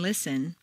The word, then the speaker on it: listen: Just as you don't say the T in listen, the double T in better is pronounced D, better.